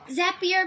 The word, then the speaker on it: Zapier: that is our tagline that's how I remember how to pronounce it zapier makes you happier so I think we